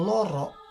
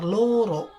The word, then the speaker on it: loro: Kata Loro yang artinya untuk menunjukkan angka atau bilangan dua, ucapannya itu adalah loro, seperti ada u-nya, loro. Sedangkan kata loro yang artinya sakit atau menderita, untuk pengucapannya itu sangat jelas, yaitu loro.